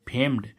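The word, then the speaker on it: famed: ए एम ई डी फेम्ड फेम्ड means क्या होता है प्रसिद्ध अब देखो इसमें क्या आया ड आ गया डी का उच्चारण क्या आ गया ड ठीक है गा अब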